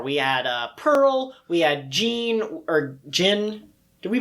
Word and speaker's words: Gin: It was Geen. Yeah. Geen.